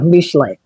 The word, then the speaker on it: Mishlei: Mishlei. That's how you say it in Hebrew, Proverbs.